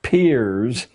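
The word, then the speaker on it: Peirce: philosopher human history has produced he was it's pronounced peers but it's spelled as if it were Pierce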